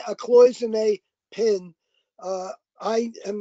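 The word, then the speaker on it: cloisonné: that you call can't man actually be a clonic seat in i'm probably pronouncing that wrong gene jumping poison cloisonne a cloisonne pin uh i am not aware of any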